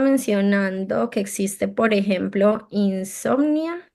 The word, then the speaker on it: Insomnia: Aquí estaban mencionando que existe, por ejemplo, Insomnia, si no estoy mal se pronuncia así, Insomnia.